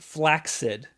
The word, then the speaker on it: flaccid: you call limp dick limp dick well it's flaccid flaccid yeah it's actually pronounced flaid but nobody says that okay because it's dumb